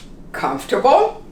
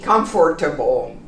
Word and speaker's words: comfortable: you can also learn comfortable we don't say comfortable this really disappears when we pronounce comfortable comfortable now this word is